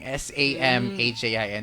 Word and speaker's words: Samhain: Pero ang spelling niyan, Samhain yung spelling. S-A-M-H-A-I-N. Pero ang pagbigkas dyan is Samhain.